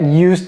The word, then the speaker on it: used: long time to get used to it. Okay? So here, it took me a long time to get used. Et prononcez le D, to get used.